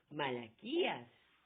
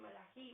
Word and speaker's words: Malaquías: ley de diezmo, sino Malaquías. Malaquí. Malají. Pero es Malaquía, algunos le dicen Malají, Malaquía. En la Torah dice Malají. Tiene diferente pronunciación.